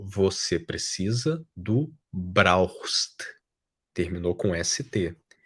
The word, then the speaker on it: brauchst: Você precisa, du brauchst. A pronúncia, né, eu vou falar bem lenta aqui, du brauchst. Brauchst. Du brauchst. Esse CH tem som de R também, du brauchst.